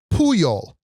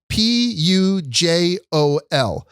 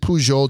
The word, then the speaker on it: Pujol: It's called Pujol. That's how they pronounce it. Pujol. So I would pronounce it Pujol just from Pujols, right? Like from Albert Pujols. But I believe the guy behind the desk said we pronounce it Pujol.